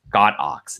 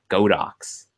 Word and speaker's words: Godox: in Chinese characters so that means it's pronounced got ox not go docks well maybe we'll find